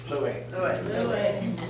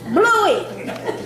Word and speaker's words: Bluey: Louis. Bluey. Well, I didn't know how to spell it, so I didn't put it on your side.